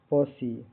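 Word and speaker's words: posse: पी O double S ई का उच्चारण pronunciation पसी प सी ओ यहां यहां ओ का उच्चारण ओ जैसा होता है। आखिर इ साइलेंट नहीं है बल्कि सी की ध्वनि देता है।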